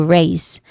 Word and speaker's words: raise: Pronunciation wise, we start with raise, which is a one syllable word. It rhymes with maze, which has a clear A diphthong sound and a buzzing sound at the end. So raise.